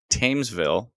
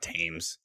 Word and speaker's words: Thamesville: hmm fame uh not i did it again thamesville thamesville not tames yes t-h-a-m-e-s otherwise pronounced teams oh no thames why is there